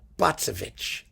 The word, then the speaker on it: Bacewicz: really going to like botsovich let me get it right i'm not going to mispronounce it botsovich that's her name and you owe it